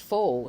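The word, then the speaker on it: faux: First off, the word fo spelled f a u x. This is pronounced as fo tao fo char. So it reshmes with my name with a long o.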